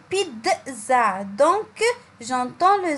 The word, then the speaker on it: pizza: le mot pizza genre c'est un mot anglais il se prononce pizza donc j'entends mme z